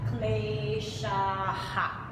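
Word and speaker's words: क्लेशाः: In that case, we are going to double up on this vowel. So we're going to repeat that vowel that came before the H. So, avidya, smita, raga, dvesha, bhinivesha, kleshaha.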